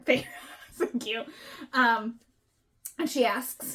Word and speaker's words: Feyre: Feyre. Feyre.